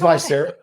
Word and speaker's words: Vicera: Tell me about Viscera. I'm saying it right. Viscera. Yeah, it's Viscera.